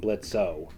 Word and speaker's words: Blitzø: So according to him, the O in his name was silent, making him pronounce just Blitz, That's right.